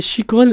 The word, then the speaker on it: Shikho: le site aussi oui euh mon nom c'est Chico l'entreprise s'appelle Chico mariage couturier elle est située